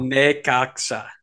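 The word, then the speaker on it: Necaxa: pronounced it wrong still Nea there it's a it's a sa not a not a cha so hopefully our friends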